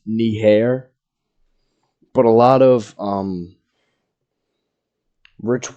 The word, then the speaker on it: Niger: This country here, it's actually pronounced Niger, but a lot of